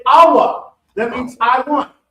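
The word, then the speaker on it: ahwa: So in Hebrew, you say awa. That means I want. Awa.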